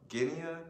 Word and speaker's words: Guinea: And next he talks about the Baga people in what is now in the Republic of Guinea. That's how you pronounce it.